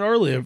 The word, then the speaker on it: Aralia: You pronounced Planet Aralia. I know. Correct.